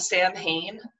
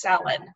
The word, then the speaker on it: Samhain: in particular um they had a demon called samhain and they pronounced it that way the entire episode i speak the irish language it takes two minutes to google it and find out that it's pronounced salon and two no not two minutes two seconds